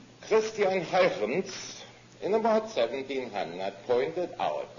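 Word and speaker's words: Christiaan Huygens: Some Dutch names just sound that way. His name is Christian Huygens. Christian Huygens, in about 1700, pointed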